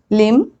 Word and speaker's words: limb: Whenever there is M and B together at the end of the word, I am not pronouncing B.